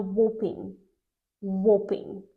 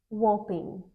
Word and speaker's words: whopping: 45% of all a Waring Waring we're interested in this word pay attention that H is silent and we don't say g at the end Waring Waring Waring whopping is an adjective